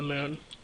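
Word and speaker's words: Mün: first minmus then the moon or M Moon I just call it Moon because it has the two dots on it and no that's how you pronounce it and maybe come back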